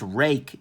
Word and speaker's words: Ruike: This is apparently pronounced rake in the pinyin writing system for Chinese using Roman characters.